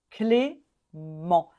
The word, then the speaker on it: Clément: clémence et au masculin on prononce Clément oui on ne prononce pas le T à la fin Clément on termine avec la voyelle nasale en Clément Clément celui-ci pareil on a